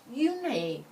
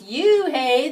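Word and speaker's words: Unhei: It's spelled U-N-H-E-I. It's pronounced Eun-hye. Oh, it's you-hey, the boy said, like you-hey.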